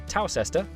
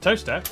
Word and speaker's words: Towcester: Mousehole, Next, travel north up to Towcester, Toaster, then a quick jaunt to Gotham, Gotham, followed by a stop in Quernmore, Quormer, before finishing up in Alnwick.